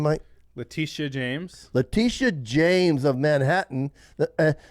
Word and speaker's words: Letitia James: Letitia James.